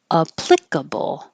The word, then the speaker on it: applicable: There's two possibilities for this pronunciation. It could be applicable.